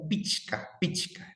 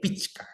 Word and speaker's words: pichka: Bueno, aquí hacer énfasis que se pronuncia pichka, ¿no? Con la che, pichka, ¿ya?